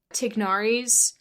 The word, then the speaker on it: Tignari: I'm starting Tignari's questline.